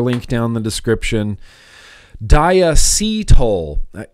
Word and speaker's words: diacetyl: Diacetyl. Apparently, Phil, that's the correct way to say it. I say diacetyl because I think it sounds cool.